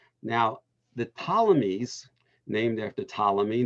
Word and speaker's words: Ptolemy: the ptolemies named after ptolemy the p is not pronounced uh would establish the